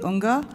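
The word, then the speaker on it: Unga: I was uh informed by Senator Gabard who is going to speak on this that the G is silent.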